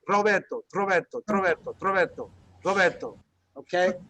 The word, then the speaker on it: Roberto: So many of you have seen the word Roberto. Notice it's not Roberto, it's Roberto. Okay? Even though it's only one R.